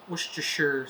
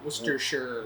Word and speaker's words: Worcestershire: So the Worcester, that part is pronounced Worcester, Okay. and then Shire, Worcestershire.